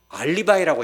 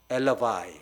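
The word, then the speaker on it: alibi: 알리바이라고 하잖아요. 알리바이, 엘러바이, 그죠? 정확한 발음이 엘러바이입니다.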